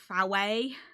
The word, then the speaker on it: Fowey: yeah, we went down to what's it called? Fowey? Foyer. And I was like, you mean foy? It's like, but it's not spelt like that.